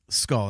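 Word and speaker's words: Skoll: sorry what's the last name yeah I skull skull that's right SK k o l l yeah that's right sorry mispronunciation there I apologize um yeah like make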